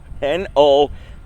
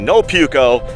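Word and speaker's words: Nopuko: that out nah Paco n-o-p-u-k-o is how it's spelled I see a little sign over here on it we are going to call it no puko that's what we are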